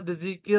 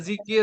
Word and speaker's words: zikir: Nah, kita nggak pernah kita bilang saya mau dzikir dulu. Jadi yang pernah kita bilang adalah zikir ya Bapak Ibu ya dalam pengucapan orang Indonesia. Jadi yang benarnya adalah zikir.